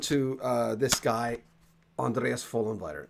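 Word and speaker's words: Vollenweider: uh this guy Andreas full inviter the V is an F the f is a v that's how you pronounce his name I had a Swiss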